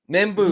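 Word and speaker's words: Membou: Membu, thank you. Armand Meu, Missouri offensive tackle.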